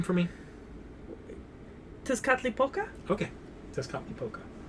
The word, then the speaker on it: Tezcatlipoca: Oh, first, can you pronounce that name for me? Tezcatlipoca? Okay. Tezcatlipoca. Tezcatlipoca.